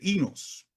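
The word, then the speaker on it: οἶνος: El término aquí en griego, algo así como ino, pero se pronuncia realmente inos.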